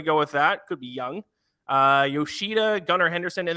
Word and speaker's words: Jung: uh that's my advice Justin says uh pronounced like young so it is I